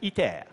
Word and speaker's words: ITER: Now, this is ITER, pronounced in French, ITER.